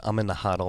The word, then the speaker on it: HODL: I was pretty convinced, or I was beaten in the debate. It's HODL. I got to start pronouncing it correctly. How are you beaten in the debate? It's just consensus was agreed upon, and the consensus is it's HODL. It's not HODL.